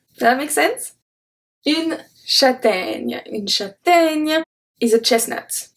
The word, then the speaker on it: châtaigne: The first one we're gonna see today is une châtaigne. Can you hear the E at the end? Une châtaigne. Nya. Nya. Does that make sense? Une châtaigne.